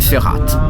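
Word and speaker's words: Verrat: r a ok ok prononciation allemande c'est ferat ça dire trahison tout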